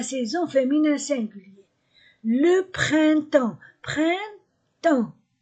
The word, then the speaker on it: printemps: fémin singulier le printemps printemps je ne prononce pas la lettre P et la lettre S le printemps l'été l'été